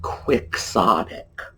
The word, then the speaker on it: quixotic: We pronounce it quixotic, just like it's spelled in English.